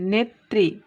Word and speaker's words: নেত্রী: তাহলে আমাদের পূর্বের রুলস অনুযায়ী আমরা জানি যে শেষে কিংবা মধ্যে যদি রফলা থাকে তাহলে সেই বর্ণটা দ্বিতীয় উচ্চারণ হয়। দেখো এখানে তাই হয়েছে, নেত্রী।